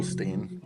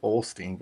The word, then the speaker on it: Osteen: It's like, well, where'd the L go? Why is the L not there?